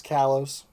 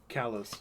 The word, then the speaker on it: Kalos: It's Kalos. Kalos.